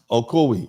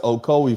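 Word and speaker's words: Ocoee: Um okoi uh thank you so oki okoi. Thank you so much fam. Oko, it's pronounced Okcoi, Florida.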